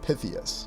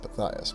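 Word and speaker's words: Pythias: Or is it Knights of Pytheus? No, no, it's Knights of Pias, but interesting also considering pronunciations.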